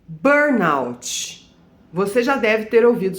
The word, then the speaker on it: burnout: Ela é uma palavra inglesa, que é burn, de queimar, out, fora, né?